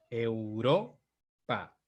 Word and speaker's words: Europa: Porque es en ro en donde ocurre la mayor fuerza de voz. Donde ocurre la mayor fuerza de voz es la sílaba que llamamos sílaba tónica. Sílaba tónica es donde lleva el tono, la fuerza de voz. Europa, Europa, ¿sí?